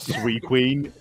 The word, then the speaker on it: Suicune: It's pronounced Sea Queen. Sea Queen. It's pronounced Sea Queen because it's the queen of the sea.